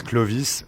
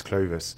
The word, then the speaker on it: Clovis: But in French it's Clovis, and in English it's Clovis.